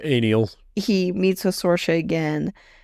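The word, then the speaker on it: Anielle: And I believe it's pronounced Aniel.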